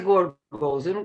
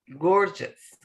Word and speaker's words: gorgeous: Pronuncia gorgos. É gorgos. Just. Like just without a T. Gorgeous.